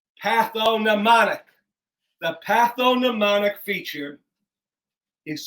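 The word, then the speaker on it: pathognomonic: o n i c with the silent g patho mnemonic the patho mnemonic feature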